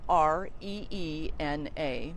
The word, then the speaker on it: Rena: First name is spelled F as in Frank, N as in Nancy, U, and then Rena, Reena.